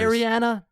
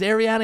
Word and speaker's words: Arian: Ariana. Is Ariana here? Um, sorry. It's Arian.